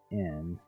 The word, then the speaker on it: Quotien: It's Quotien. Quotient? Ocean. Type Good it with up. those QU names. That's how it's spelled. Ocean. Just add a T.